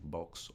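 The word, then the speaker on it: Boggs: Grábate este nombre porque Libook Brooks, este hombre que era el gobernador de Missouri, Lbur Books, así no books de libro, sino books con G.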